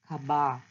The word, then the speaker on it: khabar: We will not pronounce the word R and the H very clearly here. So it sounds khabar.